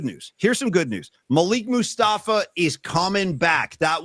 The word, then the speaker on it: Malik: I'm a fan of pronunciation. It's Malik. Malik.